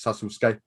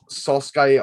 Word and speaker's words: Sasuke: oh but it is it can also pronounce sassusca okay but it um sasuke i believe no it's a translation